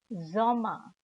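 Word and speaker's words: Sommer: compared to the english language but of course pronounced zoma so in fueling we have math april mai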